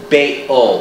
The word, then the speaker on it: Baal: You know, the glottal stop between the bay and the ul is very difficult to pronounce. Baal, or is it Baal?